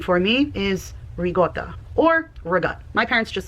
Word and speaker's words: ricotta: Rigotta is the way it's pronounced and even further slang. Again, my family said rigot.